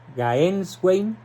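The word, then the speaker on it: Gänswein: Se escribe G-A-N-S Wayne. Gaenswein.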